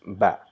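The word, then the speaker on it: ب: with the sound so the second letter of Arabic consonant is ba it's not bad or it's not ba it's ba so how do we pronounce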